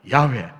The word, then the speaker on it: 야훼: 그러니까 성경에서 가장 보편적으로 가장 흔하게 많이 나오는 하나님의 이름이 바로 이 여호와, 히브리식 발음으로 하는 야훼 하나님, 여호와라고 하는 이름이 이렇게 많이 나옵니다.